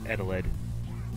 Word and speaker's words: Eteled: we're going to be playing me funkin versus edelege livesay pronounced it really it's just called adeled and yeah this is based off a creepypasta